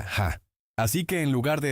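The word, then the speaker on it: ห้า: En tailandés el número cinco se pronuncia ja, así que en lugar de escribir jajaja, los tailandeses a veces escriben 555.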